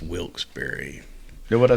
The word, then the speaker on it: Wilkes-Barre: Also, by the way, it's Wilkes-Barre. Know what I say? Wilkes-Barre is spelled bar, but they say I heard it's pronounced Wilkes-Barre.